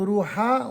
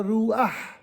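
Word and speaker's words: רוח: Au lieu de dire, par exemple, ruha, on dira ruah.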